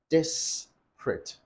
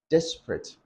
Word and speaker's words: disparate: Rather, you say disparate. Disparate. Disparate. Now, you can either pronounce it in three syllables as disparate, or you pronounce it in two syllables as disparate.